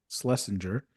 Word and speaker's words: Schlesinger: Schlesinger.